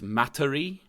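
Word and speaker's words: Materie: pronounce this correctly but it's matari oh okay m-a-t-e-r-i-e i think it's like it's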